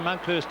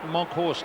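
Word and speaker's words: Monkhorst: And uh North once they get that loose man men going, Monkhurst is warming up. Monkho, I should say, is the correct pronunciation.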